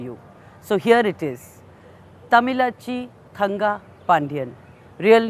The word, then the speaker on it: Thamizhachi Thangapandian: young MP's name is a bit difficult to pronounce correctly but she's happy to decode it for you so here it is Tamila chi kanga pandyan real name Sumathi she is a person of